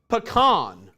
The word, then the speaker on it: pecan: It's pronounced pecan.